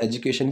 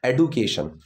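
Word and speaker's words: education: देखिए कायदे में तो एजुकेशन ही होता है, लेकिन अगर आपको एडुकेट इस तरीके से कहीं बोलता हुआ कोई मिले, अगर एडू की जो प्रोनाउंसिएशन है वो क्लियर एकदम सुनाई दे रही है, तो वहाँ पर एक गलती है।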